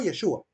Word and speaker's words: Yeshua: de origen judío y le pregunté Cómo producen ustedes el nombre de Jesús y me dijo yeshua Verdad escribió tal cual lo pronuncian yeshua Ok y yasual le